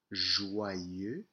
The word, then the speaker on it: joyeux: So let's look at how this breaks down, a bit of pronunciation. Joyeux, joyeux, joyeux, joyeux.